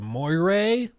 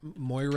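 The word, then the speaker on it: moiré: video what's it called moay I think the mo moir effect I think is how it's pronounced it's that thing when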